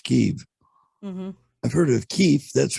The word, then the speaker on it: Kyiv: From what I saw, instead of saying Kiev like everybody knows it to be, now it's Kyiv.